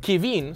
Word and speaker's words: Kevin: being racist my name my name is Kevin but it's French it's pronounced kin so I'm just you